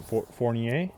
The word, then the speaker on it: Fournier: It's not so hard, but we have French, Fournier. which is like Fournier. Yeah. So that's why up here it seems to be pronounced properly.